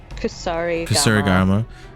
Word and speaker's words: Kusarigama: How do I pronounce this weapon again? Kusarigama.